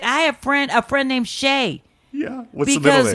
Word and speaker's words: Shea: She doesn't have to use Shay, but it's like Shay, and it's spelled the way the stadium is, S-H-E-A.